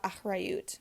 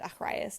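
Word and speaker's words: אחריות: And finally, we learn about achrayut, or taking responsibility, also known as achrayus, depending on your pronunciation.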